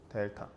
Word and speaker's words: 델타: 라고 새로운 기호 삼각형 씁니다. 델타라고 읽어요. 델타.